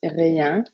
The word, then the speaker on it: rien: It's pronounced rien, and ne rien means nothing.